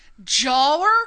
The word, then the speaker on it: Joher: wrong for months okay but he just told me how to say it today and it is jawler Coleman is that right yeah oh God okay